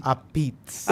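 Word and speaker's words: apizza: Abitz.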